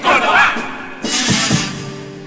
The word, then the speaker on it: Córdoba: Sobre el campo la verdad, sobre mi corazón que llevo, Córdoba. Quieto, el acento en la O, no en la A.